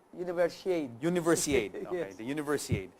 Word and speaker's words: Universiade: Universiad. Universiade.